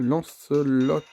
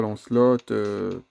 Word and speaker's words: Lancelot: début avec la dameline lanceelot non pas lancelotte ah j'ai pas l'habitude